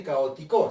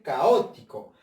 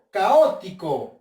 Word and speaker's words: caótico: No se dice caótico, se dice caótico. Vamos a ver con la ti. Caótico. Tampoco. Con la o. Caótico. Sí, ¿no? Esta es la sílaba tónica.